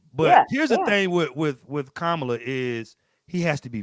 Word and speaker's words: Kamala: So I call him Donald Trump because y'all keep getting her name wrong. It's what is it? Kamala.